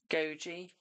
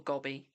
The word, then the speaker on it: Gogi: Goji. It's not Gabby, my darling. It's spelled Gogi, not Gabby or Gobby. Did I say Gobby? Oops. Goji. Not Gobby. Not Gobby Queen.